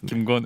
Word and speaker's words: 김건: 건강한 정치인이 아니고 건강한 정치를 하시는 김건 의원님. 두 분 인사 나눠주십시오. 네, 안녕하십니까. 안녕하세요. 안녕하십니까. 네. 자, 우리 발음을 조금 잘 하셔야 될 것 같아요. 예. 좀 김건희 여사라고 들릴 수가 있으면 헷갈릴 수가 있어요.